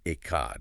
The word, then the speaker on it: Echad: We're diving deep into the absolute oneness of Yahweh Echad, pronounced Echad, and how that, stunning, indivisible truth is revealed perfectly in Yahshua the Messiah.